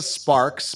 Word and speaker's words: Sparxx: Her name is Lisa Sparks, but it's spelled Sparxx.